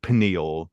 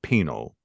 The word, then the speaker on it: pineal: Um, he also pronounces it though not like pineal, but he pronounces it penal, right?